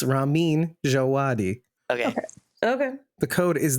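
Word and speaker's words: Ramin Djawadi: so that's why we we've all been saying the composer's name wrong by the way it's Ramin jaadi it's almost like rammen it's Ramin jaadi okay okay the code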